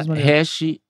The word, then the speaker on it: hash: código ou R Não não é escrito Rash mas se pronuncia hash eh que é que